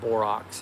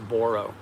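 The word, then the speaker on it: Boroux: Reason I keep spelling it is I used to pronounce it borox. if you or Borox, Borox, um if you go to some of our old videos, um but it's pronounced Borro, B O R O U X.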